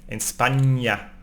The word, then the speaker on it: España: It's pronounced like ñ, España, España.